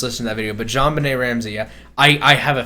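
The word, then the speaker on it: JonBenét: beauty pageant girl oh john bennett ramsey i found out it was actually pronounced jonbenet like it's french oh it probably it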